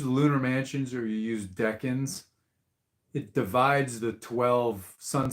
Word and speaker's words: decans: decans, or you know, people say deacons. I think the pronunciation is decans, but you know, who the hell knows?